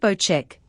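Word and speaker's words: Bocek: circle's location bow check the new bow check pronounced bow check compound bow is a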